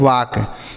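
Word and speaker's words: walk: इसे हम पढ़ते हैं वाक। क्या पढ़ते हैं? वाक। यहां पर भी बच्चों एल साइलेंट है। इसे नहीं पढ़ा जाएगा।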